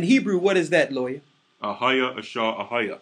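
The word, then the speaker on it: אהיה: It's right in your face where it says Ahia, Ashar, Ahia, which the Jewish people mispronounce Iye, Ashar, Iye.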